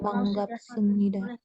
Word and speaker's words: 반갑습니다: Yang Banggap Semnida. 반갑습니다. Banggap. Banggap. Semnida. Karena kan yang itu jadi M kan.